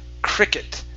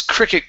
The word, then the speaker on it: cricket: one is the word cricket make sure to pronounce that it sound at the at the very end the club's cricket ground the club's cricket